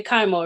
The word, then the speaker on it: Kiamo: So before we get into this interview, I did say Kiamo, right?